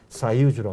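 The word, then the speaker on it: Союз: 그리고 우주 정거장까지 ISS까지 우주인들이 왕래하는데 러시아 우주선 소유주, 뭐 러시아 발음으로 하면 사유주라고 하면 그걸 타고 왔다 갔다 해요.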